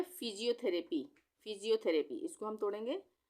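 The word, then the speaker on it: physiotherapy: अब है फिजियोथेरेपी, फिजियोथेरेपी इसको हम तोड़ेंगे। सबसे पहले PHY, यहाँ पे फी, यहाँ पे PH से फा बनता है तो Y के लग गया इसके साथ तो फी बन गया, फी।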